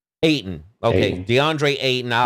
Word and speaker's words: Ayton: Did I pronounce his name right? DeAndre Ayton? Ayton.